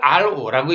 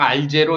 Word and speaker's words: Ro: 존재의 한 종류만 존재합니다 이걸 알오라고 읽어야지 알 빵 알제로 이렇게 알령 이렇게 읽으면 안 돼 오래하는 타입이니까 RO 이렇게 읽어야 됩니다 그런 뜻입니다 자 이와